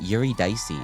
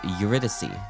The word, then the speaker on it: Eurydice: It's not Yuri Dicey. It's Eurydice.